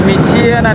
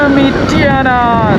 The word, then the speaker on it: Mityana: So in the old days I used to call it Mityana. I thought that was the pronunciation, the name, but it is Mityana. I would add an I somewhere, make it sound Mityana.